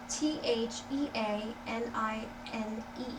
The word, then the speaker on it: theanine: it lamine ta a l like and Larry t h e a n i n e okay and I'm not going to pronounce that elini eleanine theanine okay eleanine okay